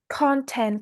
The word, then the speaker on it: content: Oh, content creation. We stress on the first syllable, right?